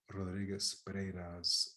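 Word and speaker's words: Rodríguez-Pereyra: we read uh gonzalo rodriguez pereira's why truth makers now the reason i pronounced it in the original is because i liked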